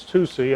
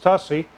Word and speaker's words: TUSY: unboxing this 2c and that's where it's pronounced is 2c i've also heard it pronounced tussey which then reminds me of a hussy yeah i have a